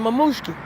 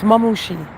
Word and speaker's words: Mamushi: Because, you know, I'm still waiting for Ada and Mamushki, right? And, you know, I know I'm saying his name wrong, baby. It's Mamushi.